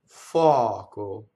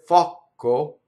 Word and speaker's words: foco: Now, if I said fɔco, that would be wrong. That would be two K's. That would be a double C, right?